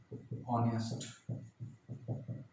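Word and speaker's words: honest: आवर, ऑनेस्ट, ऑनेस्ट man, honourable CM, year, इसका मतलब होता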